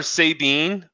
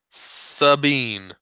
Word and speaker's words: Sabine: out there right now you call our say beam is that like a joker that how you read it was a pretty supposed to be pronounced its Sabine Sabine yes oh you didn't know this oh I thought you were just being cute oh no it's totally Sabine sure the more you